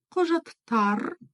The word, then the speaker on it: құжаттар: читается очень-очень кратко соответственно ударение у нас на слог вперёд жат тар вот на